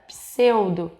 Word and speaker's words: pseudo: duas consoantes Por exemplo quando nós falamos a palavra pseudo nós temos um encontro de duas consoantes e nós conseguimos ouvir o som dessas duas consoantes na palavra subsolo nós